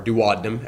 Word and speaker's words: duodenum: The stomach, as it shoots the chyme into the first part of the small intestine, this is called the duodenum, or duodenum, as some pronounce it.